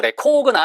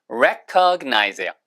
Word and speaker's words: recognize: 이해심 있는 recognize 발음만 주하세요. 이거 이거를 자꾸 레코나 이러시는 분이 있는데 아니에요 여러분. recognize예요.